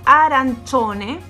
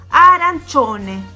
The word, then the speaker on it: arancione: Acuérdense que en la primera clase nosotros vimos que la C con la I se lee chi. Pero cuando a esto yo le agrego una O al lado, es decir, C-I-O, esto en vez de ser chi, pasa a ser cho, ¿sí?